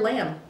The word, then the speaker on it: lamb: The word lamb ends in M, but the B is silent.